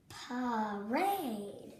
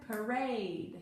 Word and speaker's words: parade: accent right there now this is going to be half long because he's not in the accented syllable when the a is in the unaccented syllable and it looks like it's open think of it as the u sound try it now parade